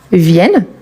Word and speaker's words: viennent: Elle n'est jamais prononcée quand il s'agit d'un verbe. Il s'agit bel et bien de la troisième personne du pluel. Donc on dit il viennent, elle viennent, ils viennent chez nous.